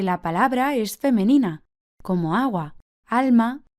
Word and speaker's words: agua: La sílaba que remarcamos es la primera, agua, por lo que en singular es el agua.